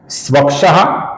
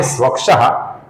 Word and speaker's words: स्वक्षः: यहां पर ध्यान से देखिए, सर्वप्रथम नाम है स्वक्षः। इसके विसर्ग का आगे स आने के कारण अपूर्ण स ऐसा उच्चारण हम करेंगे।